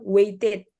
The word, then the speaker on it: waited: Kalau kata-katanya waited, ini bacanya waited. Jadi jelas, waited, ada ted-nya di belakang, waited. Kemudian he knew, langsung aja.